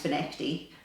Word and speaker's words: Findochty: fishing time it's spelled findokti but it is pronounced for Nifty uh just so you know um very confusing